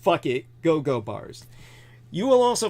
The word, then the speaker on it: Phuket: Then there's the Phuket, P-H-U-K-E-T, it's pronounced fuck it, go-go bars.